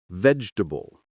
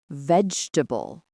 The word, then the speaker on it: vegetable: Then we practiced words that sound shorter than they look, like comfortable, vegetable, and Wednesday. Wednesday comfortable vegetable.